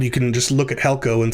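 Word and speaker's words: ἕλκω: You can just look at helko and say, oh, it's pronounced helko.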